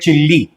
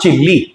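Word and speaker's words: chilli: बहुत से लोग बोल देते हैं चिल्ली, इट्स नॉट चिल्ली, इट इज चिली।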